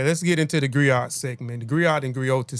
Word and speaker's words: griot: The griot or jelly professional encompass many roles. The griot or the griotis, pronounced griot or grioti, have been referred to